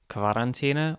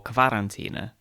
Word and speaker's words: Quarantäne: Since other German words with QU are pronounced as kv, like Qualle, jellyfish, it stands to reason that many people would pronounce Quarantäne.